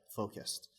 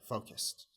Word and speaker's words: focused: you see the Ed in this word is pronounced uh as focused the reason for that is that before Ed